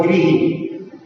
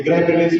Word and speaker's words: गृह: एक प्राभृत और प्राभृत, जैसे अपन लोग बोलते हैं ग्रह और गृही, ग्रह होते हैं ऊपर घूमने वाले, और आपका जो जिसमें आप लोग रहते हैं वो होता है गृह, लेकिन अपन लोग अंतर नहीं करते, उसको भी अपन ग्रह बोलते थे, ग्रह प्रवेश हो रहा है हमारे यहाँ पर, जबकि उसका उच्चारण कैसा होगा, गृह प्रवेश, गृह, गृही कहलाता है, ग्रही नहीं।